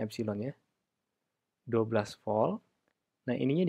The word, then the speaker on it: epsilon: Jadi ini menjadi epsilon, bacanya epsilon ya.